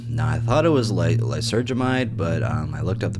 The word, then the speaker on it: lysergamide: Now, I thought it was lysergamide, but I looked up the pronunciation.